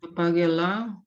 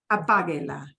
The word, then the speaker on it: apáguela: Yeah, because you'll always say apague, like apague, apáguela, apáguela. We just add the la onto the end, and the la doesn't get more punch. We still focus on apague.